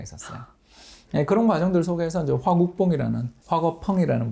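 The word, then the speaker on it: 화궈펑: 그런 과정들 속에서 이제 화거펑이라는 분이죠. 중국 발음으로는.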